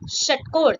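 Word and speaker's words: षट्कोण: That is shatkon. It is very much similar pronounced with the previous consonant, that is sha. It is sha. The sha, shatkon.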